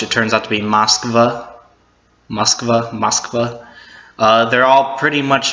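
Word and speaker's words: Москва: being Moscow, which it turns out to be Moskva. They're all pretty much how we would pronounce them in English, but they're just spelled in their Russian letters.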